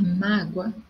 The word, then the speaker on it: mágoa: Então, aqui, ó, guardar mágoa alimenta ressentimentos. Então, mágoa, a minha sílaba tônica é o má.